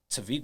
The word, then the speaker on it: Tevik: really a conversation starter in the same token because people like, yo, what is Tevik? And then niggas say it wrong all the time.